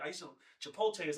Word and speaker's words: Chipotle: of people, but Chipotle we call it Chipotle. I'm from I'm from New York. Yeah. So we pronounce the T.